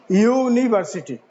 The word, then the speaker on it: university: we'll find it is sounding like like y y u that means university so y is not a vowel universe it is not the sound is not vowel so we will use